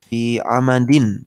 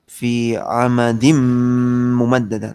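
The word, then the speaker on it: فِي عَمَدٍ مُمَدَّدَةٍ: Fi amadin. Ya, fi amadin ketemu mim. Bacanya menjadi fi amadim mumaddada. Tanwinnya hilang, masuk ke mim. Iya. Tapi nggak cukup masuk, harus disertai dengung.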